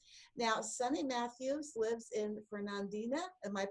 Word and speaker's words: Fernandina: Now, Sunny Mathews lives in Fernandina. Am I pronouncing that correctly? Fernandina.